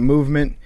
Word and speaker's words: MVMT: MVMT, it's pronounced Movement.